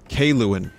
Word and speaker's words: Kaluan: Kaluan is how you pronounce her name. Okay, Kaluan.